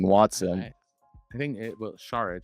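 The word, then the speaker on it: Šarić: I think it will Saric Sha that's how they say it on the broadcast. Saric. Saric Saric. Saric like shh. Saric like I'm Sean Connery.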